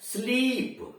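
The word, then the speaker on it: sleep: लेकिन अगर आपने झटके से कह दिया स्लीप, उच्चारण आपने स्लिप कर दिया बजाय स्लीप कहने के, तो स्लिप का मतलब तो SLIP हो जाएगा, फिसल ना।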